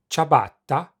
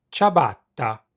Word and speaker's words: ciabatta: In fact, the only relevant difference is that English speakers don't pronounce the double T. ciabatta, ciabatta.